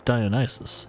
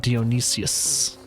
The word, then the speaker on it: Dionysus: Oh, actually, it's Dionysus, I think. That's how you pronounce it. It's not Dionysius.